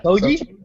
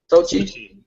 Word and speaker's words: Sochi: Sochi, is that how you pronounce it? Yeah. Soji? Sochi.